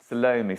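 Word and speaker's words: Salome: more of I think I've say this wrong. Salomi. Do I say it right? Salomi. Yeah, I'm saying that right. Salomi.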